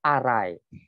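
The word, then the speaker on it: Arei: bukan Rei itu tiruannya itu bacanya juga bukan Rey tapi Arai mereka membuat tiruannya kalau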